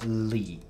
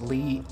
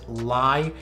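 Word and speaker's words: lyi: sent me, is Hoya Lee. L-Y-I. I think it's pronounced Lee. I heard people pronounce it Lie, but I'm not sure that's the correct pronunciation.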